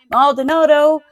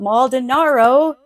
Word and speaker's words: Maldonado: Maldonado, not Maldinaro.